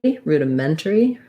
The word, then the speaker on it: rudimentary: primary stress there ruda so this i is a schwa or it might be an so either ruda or rudy you just want to be short light and unstressed on that syllable a little more length here rude of men turi rudimentary rudimentary rudimentary um i'm going to go with turi with a two syllables there rudimentary um but i think